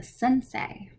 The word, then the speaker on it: sensei: japanese poetry form haiku e i is pronounced like eight a japanese karate instructor is a sensei if you see the